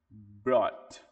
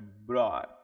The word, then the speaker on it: brought: brought é como se existisse simplesmente o B, o BR O e pulasse diretamente pro T. E o T também fica bem suave. Então, brot brought, é brot.